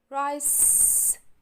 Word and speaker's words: rice: r r and i rice c not s because after letter C the silent letter e again right r r